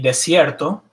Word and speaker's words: desierto: D is de, as in el desierto, pronounced almost the same. Again, not quite as hard as the D in English, el desierto.